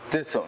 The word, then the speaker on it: Disem: Oh, okay, so it's Disem, not Disem. Disem, yeah, you okay.